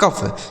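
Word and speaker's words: cough: आगे सी ओ यू जी एच सी से हो गया दोस्तों का। इस ओ यू जी एच का उच्चारण आपको फ कर देना है। यह लिखा गया है कफ। सी ओ यू जी एच कफ।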